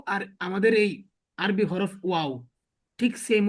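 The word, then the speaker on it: واو: তারপর আবার শেষে এসে গোল হয়ে যাবে, ওয়াও, ঠিক আছে? ওয়াও, ওয়াও, ওয়াও। অর্থাৎ আমি যদি এটা সংক্ষিপ্ত করি, প্রথমে অ উচ্চারণ হয়, তারপরে আ উচ্চারণ হয়, তারপরে আবার শেষে অ উচ্চারণ হয়, সাউন্ড আসে, অ সাউন্ড আসে, আ সাউন্ড আসে, অ সাউন্ড।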